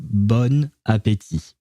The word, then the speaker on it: bon appétit: You're supposed to pronounce the first word bon, but since the first letter of the next word, which is a vowel, is an A, you have to create some kind of a link between the two words when you're pronouncing them, and it turns into bon appétit.